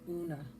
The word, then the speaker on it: Una: That's how you pronounce it, Una.